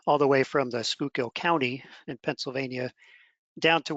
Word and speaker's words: Schuylkill: It is pronounced Schuylkill, and it actually stands for hidden river.